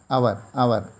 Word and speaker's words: hour: Next, H-O-E-R, not hour, hour. H is silent here.